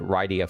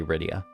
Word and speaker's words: Rydia: rydia thank goodness i remember as a kid not being sure if it was right i think i pronounced it rydia for a while and then i stopped because it's clearly rydia yeah your cold one